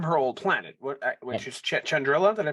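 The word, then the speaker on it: Chandrila: but it's from her old Planet which is chandrilla did I pronounce that right yes so mama if you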